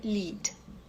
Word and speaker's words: lead: o oque a portugues n brasileir mas a pronúncia correta é lead Lead prospect prospect le então Hã A diferença